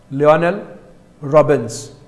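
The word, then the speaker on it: Lionel Robbins: लियोनेल रॉबिन्स, कैसे pronounce करेंगे इसका?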